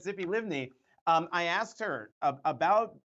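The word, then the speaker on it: Tzipi Livni: vice prime minister um Zippy um Li liven I know um I know I'm getting her her name wrong but it was what is ity yes yes yes yes Zippy livney um I asked her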